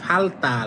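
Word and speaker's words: 발달: মানে দ্বন্দ বা ঝগড়া এইযে ফালতাল এই সেম একইভাবে দ্বিগুটাকে উচ্চারণ করবেন দুইবার তাহলে হবে ফালতাল মানে বিকাশ মানে বিকাশিত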